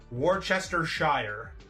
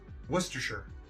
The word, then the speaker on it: Worcestershire: People always pronounce it Worcestershire, but it's Worcestershire.